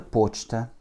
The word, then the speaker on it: почта: Je pose un P, un O, un ch, un T et un A, avec l'accent tonique sur le O, ce qui réduit mon A en E.